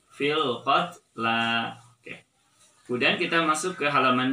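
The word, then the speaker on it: فِي الْقَتْلَى: Biasanya orang juga cenderung sering membaca salah dengan membacanya fil qatl lagi. Jadi yang termasuk ayat goribah pada surat Al-Baqarah ayat 178 adalah fil qatla. Fil qatla. Ya, jadi jangan dibaca fil qatl, tapi fil qatla.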